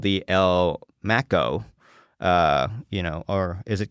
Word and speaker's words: El Maco: Is it supposed to be pronounced like taco, or is it supposed to be pronounced like Mac? I don't know. I think it's like Mac-O, like the Mac-O, like McDonald's taco, exactly.